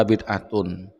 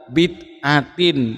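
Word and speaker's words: بدعةٍ: Nah ini ya yang tadi yang dibaca Khalid Basalamah tadi dibaca wa kullu bid'atun. Dari bacanya sudah salah bersai. Jadi ini atof pada khairah. Jadi bacanya wa kullu bid'atin. Ini mudhaf ilaih bukan bid'atun.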